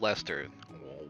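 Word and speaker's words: Leicester: of the Lester Alliance but Lester if that's pronounced Lester what's with all this extra letters you don't know which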